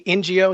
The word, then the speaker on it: Ngo: It's not even safe for independent journalists to go places and report on the left. You know, whether it's Andy NGO, is that how you say his name?